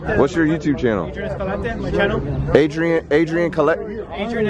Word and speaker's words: Escalante: All right, guys, we have Adrian Escalante.